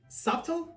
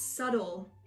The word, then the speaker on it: subtle: exception an exception yeah like subtle no it's subtle like doubt and debt yeah silent B anyways what did you